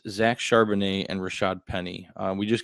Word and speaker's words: Charbonnet: I have Rashad Penny at 30, Zach Charbonnet at 32. Okay, keep interrupting me to correct me on how to incorrectly pronounce someone's name. Charbonnet.